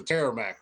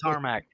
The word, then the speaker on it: tarmac: let you know when you get to the terror mac or whatever the they call it tarmac yeah tarmac my bad i pronounced it wrong